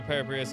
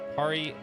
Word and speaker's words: Parus: Uh from what a parrius can earn. Uh anyway, par I keep saying it wrong. It's parus.